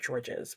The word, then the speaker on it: Georges: George's by Alexander dumah I'm sure if you're French you wouldn't pronounce it George's but I'm not French so that's how I pronounce it let me tell you